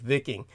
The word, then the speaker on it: Viking: Berserkers the real Scandinavian Viking Berserkers and the real pronunciation is more like vicking uh but the vicking